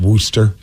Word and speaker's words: Worcester: we're like it's Tewksbury can we talk about Wooster it's Worcester whatever the hell it is